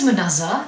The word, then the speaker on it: Manasa: today my name is Manasa that is pronounced Mona Lisa without the Lea yes that usually helps